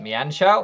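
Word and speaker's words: Mienshao: on me and shout richard always tells me how to pronounce it mianchow i think it's xiao and i always pronounce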